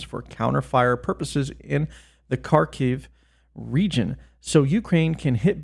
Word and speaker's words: Kharkiv: I can't really pronounce it. I think it's Kharkiv. It's Kharkiv, so I'm just going to say Kharkiv.